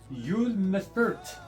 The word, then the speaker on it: Uwe Mèffert: puzzle called the Pyraminx, designed by puzzle inventor Uwe Mèffert. It's spelled U-V-E.